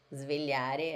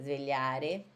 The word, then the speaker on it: svegliare: Svegliare. Aqui, ó. L-H. Svegliare. O S, quando tiver um S mudo, assim, S, depois consoante, vocês têm que falar com som de cobrinha, ó. Svegliare, tá bom?